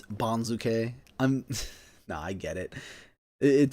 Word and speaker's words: banzuke: It's still not Banzuke, it's Banzuke.